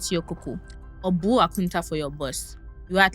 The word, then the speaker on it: Akonta: The funniest one for me is how we heard count for account and decided to call it aunta.